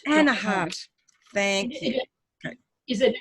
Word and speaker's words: Anaheart: How do you pronounce it, please? Anaheart. Anaheart.